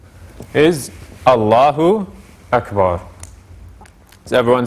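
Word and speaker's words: الله أكبر: doing that is adding it's like adding a w in between the u and the a here which is not a proper pronunciation of uh of the arabic it's allahu akbar so making sure to have that glottal stop in between the u and the ah another mistake too and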